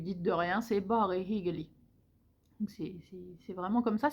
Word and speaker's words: hyggelig: Donc c'est pareil, c'est le hyggelig, c'est pas hyggelig, c'est pas un i, c'est un y. Donc c'est pas bare hyggelig, c'est bare hyggelig. Donc il faut, si vous dites hyggelig, les gens ils vous comprendront, mais ça sonne bizarre.